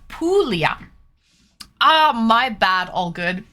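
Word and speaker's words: Puglia: I think it's pronounced Pulia. Ah, my bad. All good. Pulia. Okay. The wine. So, this province, this region in Italy is pronounced Pulia for anyone who doesn't know.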